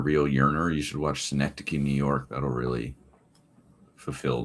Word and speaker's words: Synecdoche: Synecdoche. No. Synecdoche.